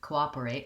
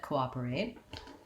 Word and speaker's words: cooperate: first let's look at cooperate um and what we have here is second syllable stress so this is kind